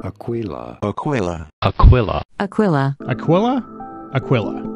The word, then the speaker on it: Aquila: I got so many comments I was somehow pronouncing Aquilla wrong Aquilla Aquilla Aquilla Aquilla Aquilla Aquilla right anyway it's